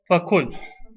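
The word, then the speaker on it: فَكُلْ: We're never going to say fa'khudh. We'll say fakhudh. Or kul, we'll say fakul.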